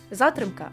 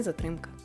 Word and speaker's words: затримка: На приросткові мали б зберігати наголошення такі слова: затримка, а не затримка.